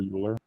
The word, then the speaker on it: Euler: I'd say there's a definite argument that Euler, you pronounce his name Euler, E-U-L-E-R, Euler was greater.